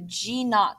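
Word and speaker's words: G₀: the cell is going to go into a g not phase that little o that you see there is pronounced not n a u t if you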